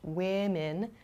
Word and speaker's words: women: and man to men please be careful of your vowel pronunciation here in particular woman and women the first vowel o here does not change in terms of spelling but in pronunciation it does change women sounds much different than the singular form woman so please be careful